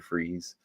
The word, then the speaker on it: Fries: Freeze. And it's Fries. Yeah, I know, but it's still pronounced Freeze.